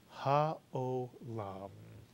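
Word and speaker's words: העולם: The ayin is silent, followed by a cholam, O. And the last syllable, lam, mitsuyan. Put the word together and you get ha'olam. And ha'olam is a wonderful, wonderful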